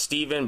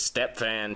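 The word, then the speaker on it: Stepfan: that Stephen or huh I'm sure it's pronounced Steven but it's Step fan Taylor Step fan Taylor with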